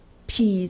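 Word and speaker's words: 圮: 匹侧，这字要念匹字啊。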